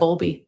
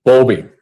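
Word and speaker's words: Bowlby: And it's and it's boundly I'm mispronouncing that. Bulby. Bulby.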